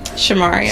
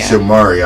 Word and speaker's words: Shamaria: Shamaria. Shamaria. I don't like mispronouncing people's names.